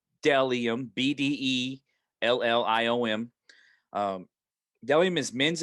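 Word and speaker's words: Bdelliom: seven nine my next sponsor is dellium it's pronounced dellium b-d-e-l-l-i-o-m um dellium is men's and women's minimalistic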